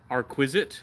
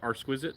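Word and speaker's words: Arquiste: Arquisite, like art and exquisite combined. Arquisite.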